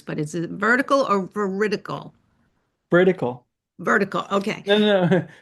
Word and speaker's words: veridical: I've heard it pronounced a couple different ways, but is it vertical or veridical?